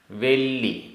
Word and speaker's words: वेल्ली: गाथा क्रमांक 156 उच्चारण माया माया वेल्ली वेल्ली आधा ल पूरा ल मायावेली मायावेली असेसा